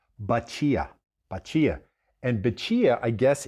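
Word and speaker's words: batida: This drink is called, it's spelled B-A-T-I-D-A, but it's pronounced Bacia.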